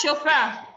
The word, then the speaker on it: chauffeur: That's chauffeur. It's not ch.